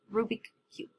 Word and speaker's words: Rubik's Cube: Okay, so this was the part of the Rubik Cube. That's the right way to say it. Rubik Cube.